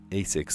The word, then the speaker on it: Asics: I at first I spelled it like ASIX. No, that's not at all how you spell it. Um, AS6. Like basics without the B.